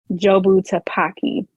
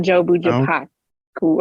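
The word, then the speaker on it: Jobu Tupaki: know uh so good her name wrong it's it is jobu tapaki not job cool or whatever but whatever I was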